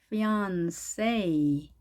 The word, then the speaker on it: fiancé: fiancé. 자, 프랑스 말로 하게 되면 N 발음이 응 발음, fiancé 이렇게 하지만 영어로는 N 발음이니까요. N으로 합니다. fiancé, fiancé.